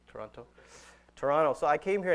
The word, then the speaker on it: Toronto: Toronto and I think I'm saying it right Toronto right Toronto without the tea Toronto Toronto so I came